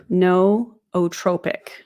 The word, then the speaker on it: nootropic: By the way, it's pronounced nootropic.